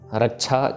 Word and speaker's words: रक्षा: next रक्षा होए ताहे सब काला दुष्ट अरिष्ट टरे तत्काला रक्षा छे के साथ है तो रक्षा पढ़ना है इसको श नहीं करना श नहीं करना रक्षा